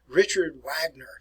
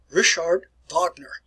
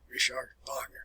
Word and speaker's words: Richard Wagner: They pronounce the name in English. They describe it as Richard Wagner.